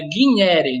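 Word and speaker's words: gignere: Guinere, aí o G, a pronúncia do G em latim é GU, como se fosse GU, então é guinere, né?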